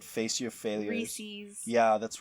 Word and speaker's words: Reese's: Well, you also thought Reese's wasn't pronounced the way it is. Recess. No. Say it right. Face your failures. Reese's.